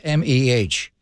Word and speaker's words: meh: that Yiddish by the way how do you pronounced m-e-h meh um so that's it okay so you